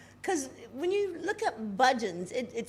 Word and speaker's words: Bhajan: So because when you look up Budgeons, it sounds like Budgeons, like the supermarket, but it's spelled completely different. It's like Bhajans, but it's pronounced Budgeon.